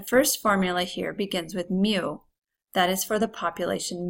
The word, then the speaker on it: mu: mean the symbol for the population mean is pronounced mu it looks similar to a letter U that's